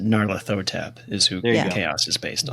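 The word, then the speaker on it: Nyarlathotep: Pronounced Narathotab is who Chaos is based on.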